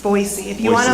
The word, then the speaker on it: Boise: Um, also I heard it's pronounced Boisey, not Boisey. It's Boisey. If you want to like fit in, say Boisey.